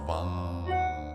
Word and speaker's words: Vam: So the root syllable is Vam, V-A-M or V-A-N-G. It's like that vibratory frequency moving up into the brain.